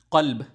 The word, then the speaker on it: قلب: لکھا جائے گا وہ لکھا ہوا ہے QALB، قلب۔ اس کا مطلب ہے دل، ٹھیک ہے۔ اور